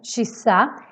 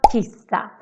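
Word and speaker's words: kyssa: you say this expression shisa then it's super important that you pronounce it like this and not kisa because kisa for us is to pee that can be a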